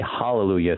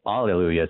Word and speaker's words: hallelujah: say hallelujah sometimes and why do we say Alleluia sometimes well because they stopped pronouncing the breathing Mark in Greek so it just didn't matter and so it just became Allelujah right the same word same